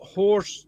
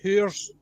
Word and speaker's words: whores: It's not horse, it's whores.